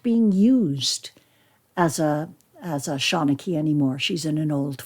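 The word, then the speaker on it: seanchaí: Because honestly, there are letters that are not pronounced in the Gaelic alphabet. It's like they don't exactly want the English to know how to say it. But we do. So Shawnachie.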